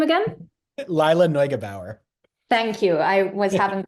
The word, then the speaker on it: Lila Neugebauer: can you pronounce her name again? Lila Neugebauer.